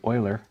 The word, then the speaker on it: Euler: e this is um named in honor of a mathematician whose name is euler so they probably wouldn't say uhler or something but that's euler's how it's pronounced and euler did many